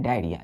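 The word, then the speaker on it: diarrhoea: आप देख रहे हैं डायरिया यहां पर ओ साइलेंट हो गया क्या हो गया बच्चों ये ओ यहां पर साइलेंट होता है तो इसका प्रोनंसिएशन हम कैसे करते हैं उच्चारण डायरिया डायरिया आर एच ई ए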